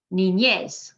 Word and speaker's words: niñez: Niñez, that's on the last syllable because it ends in a consonant other than N or S.